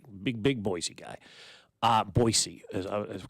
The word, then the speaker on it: Boise: Boise is correct pronunciation.